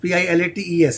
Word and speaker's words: Pilates: Shilpa, you are also a pilot, Pilates, huh? It's not the plain wala pilot. It's a different, but the pronunciation is almost the same. No, it's a different pronunciation. Pronunciation is Pilates.